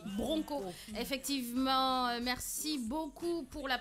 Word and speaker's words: broncho: Riyama Djabi qui dit ça s'écrit broncho mais on lit bronco.